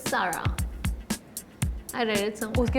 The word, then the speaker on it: Zara: Apparently Zara is to be pronounced as Sarah.